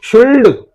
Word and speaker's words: should: This S is not silent, this D is not silent, only this L is silent.